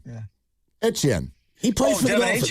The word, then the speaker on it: Etienne: Well, he said his name is pronounced Etienne. Yeah. Etienne.